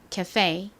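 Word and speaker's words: café: 카페가 아니라 ka페 이렇게 뒷부분에 강세가 있다고 말씀드렸죠? 따라해 보세요.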